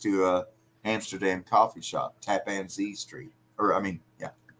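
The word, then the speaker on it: Tappan Zee: the map next to a Amsterdam coffee shop tapan Z Street or I mean yeah did I say it right yeah Tap and Z which means tap and c z Ze means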